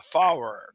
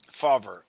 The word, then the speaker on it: Fawver: pronounce that correct Jeff how do you pronounce your last name it's fer faver okay I can't I didn't see the V faver nice to meet you